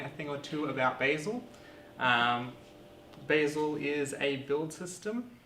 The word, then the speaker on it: Bazel: basil it is pronounced basil it's this is from basil's web page frequently asked questions it says it's pronounced the same way as the herb but in australia we